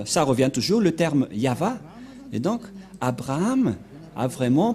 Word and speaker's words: Yahvah: nous voyons bien ici que il a bien prononcé le nom de de Dieu de Dieu yava où il est passé 21 33 que nous